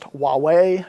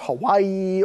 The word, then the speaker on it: Huawei: there is a test Huawei is pronounced Huawei not Hawaii or anything else I spend a lot